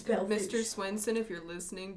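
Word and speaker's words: Belle Fourche: Now, those of you who may know how Bellefourche is spelled, it is pronounced Bellefourche. It's not Bellefourche, like it looks. It's Bellefourche.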